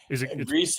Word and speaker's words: GRIS: It's and I and how do you say is it GRIS? I say Greece. What do you say? Greece is actually correct.